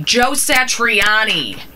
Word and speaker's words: Satriani: uh with and i don't know if i'm pronouncing his name correctly joe satriani yep bingo yeah that was just a luck